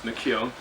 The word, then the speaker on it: McKeown: At least if you pronounce it properly, it's McKeown, right?